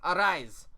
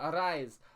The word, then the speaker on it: Arraez: Luis Arraez. That's how you say his name. Arraez.